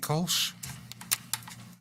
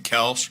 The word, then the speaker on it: Kelsch: Got Kolsch. Did I pronounce that correctly? No, it's okay. Sorry. It's fine. It's probably not the first time. No, it happens all the time. It's Kelsch. Kelsch, sorry. 6133 Hidden Valley Drive.